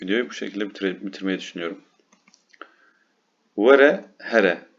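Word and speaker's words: were: Vere, here. Yine W Türkçedeki ve Y yakın bir şekilde okunuyor.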